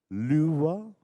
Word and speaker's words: Lua: decided to put it into redus uh it's pronounced Lua and in Portuguese it means Moon and please